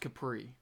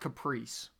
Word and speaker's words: Capri: One Fast Daddy, it is pronounced Capri. It's not Caprice.